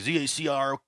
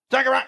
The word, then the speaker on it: Zachariah: People are like, Zacryah. I'm like, no, Zachariah, you know.